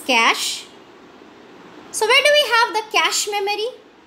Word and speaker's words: cache: Please don't pronounce it as cache. So this is cache.